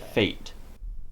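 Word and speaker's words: fête: they need to happen in French it's pronounced fet English it should be pronounced feet according to our rules but we actually pronounce it fate fate and means it's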